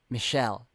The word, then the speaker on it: Michel: Oh, so that's how you do pronounce it. I've been calling him Mikkel this whole time, but also, during the times when we were learning about the white-haired girl's real name, I've been calling her Michelle just to differentiate the two characters. But now that I know the actual pronunciation is Michelle, I'm probably still gonna